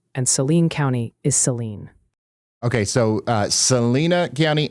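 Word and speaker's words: Saline County: Salina is pronounced Salina and Selen County is Seline.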